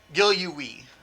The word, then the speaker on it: Gilluwe: Gilluwe. Again, he gave me the correct pronunciation of his last name.